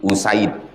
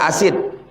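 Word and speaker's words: أُسَيْد: muslimun 343 waan abi usaid cara membacanya bidammil hamzah u wa fathis sin sa jangan baca asid asid itu asam asam asid usaid kalau asad singa.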